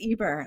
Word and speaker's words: Eber: apologize if I'm mispronounced that's right it's Eber it's like Justin Bieber without the B there you go there